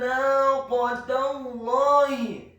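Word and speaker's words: نَاقَةَ اللَّهِ: Kata naqatallahi, huruf nun-nya dibaca tipis tarqiq fathah 2 harokat karena setelahnya ada alif. Huruf qaf-nya dibaca tafkhim tebal fathah 1 harokat. Huruf ta marbutah-nya dibaca tipis kasrah cukup 1 harokat saja karena setelahnya langsung disambung huruf lam yang tasydid dan fathah 2 harokat karena harokatnya tegak.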